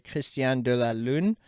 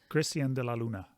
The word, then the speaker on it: Cristian De La Luna: I want to say Cristian de la Lune. Cristian de la Luna. De la Luna. Yep. It's not French. It's Colombian.